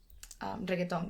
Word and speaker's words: reggaeton: And that meant, okay, I grew up listening to reggaeton, which is how you say it, as a